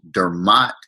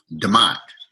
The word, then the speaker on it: Dermot: i've been called and i pronounce it dermat now that i'm in california my family called me calls me demote to my my brother